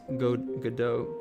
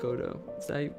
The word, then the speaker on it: Godot: difficult is gm easy i currently use godot godoh i don't i know i know the game engine i don't know how to pronounce it i think it's godot please correct me if i'm wrong uh godot is is